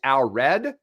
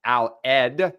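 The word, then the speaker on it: Allred: this show who are in the know it's Al Red. So I mispronounced his last name. Yeah. What did you say? I think I said Al. Aled.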